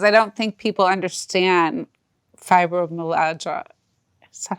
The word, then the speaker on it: fibromyalgia: And that was really important because I don't think people understand fibromyalgia. Is that how you say it? Right. You know, I just fibromyalgia.